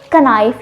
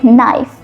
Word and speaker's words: knife: You wouldn't say knife. You would say knife.